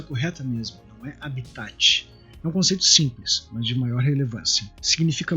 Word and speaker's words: habitat: bom então falando sobre a be tá essa pronúncia correta mesmo habitat consiste de maior relevância significa local físico hoje